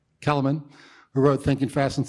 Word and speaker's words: Kahneman: Kahneman, who wrote Thinking Fast and Slow, talks about